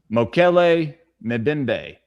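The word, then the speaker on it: Mokele-mbembe: I think it's MOKO. Okay. Then it's MBE. Moko. Hold on. Okay, here we go. Mokele Mbembe. Yes.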